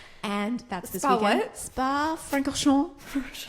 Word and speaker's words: Francorchamps: Spa-Francorchamps. Francorchamps.